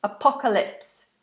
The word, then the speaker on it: apocalypse: to finish um Kumar says how do you pronounce apocalypse apocalypse um would you tell me the difference in